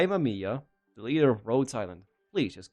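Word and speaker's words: Rhodes Island: Ger, you just heard her say roads island, not rodeo. That's a very different That's a very different syllable.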